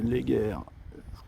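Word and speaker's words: Léguer: rejoindre les bords du lez guerre ça se prononce comme ça la rivière qui coule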